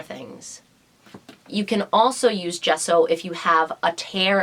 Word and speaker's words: gesso: use it what kind do i buy it's pronounced gesso we use gesso when we are priming a